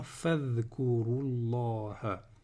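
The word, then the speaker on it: فاذكروا الله: Donc celui-là, voilà, en liaison, je ne le prononce pas. Je vais dire directement fadhkurullah.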